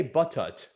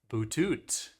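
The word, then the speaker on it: butut: I would probably say buttock. That's what I would also say. But apparently it is boutot.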